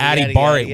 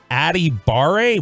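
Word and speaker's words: Adebawore: Vita from uh now the last name is spelled a d e b a w-o-r-e and it's adibare where is the W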